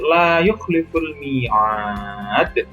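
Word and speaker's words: لا يخلف الميعاد: Nah, ini alif, mat alif didahului dengan fathah, kemudian ini di mat, dan di akhirnya kita dibaca wakof, maka cara membacanya dipanjangkan, boleh tadi 2, 4, atau 6 harokat.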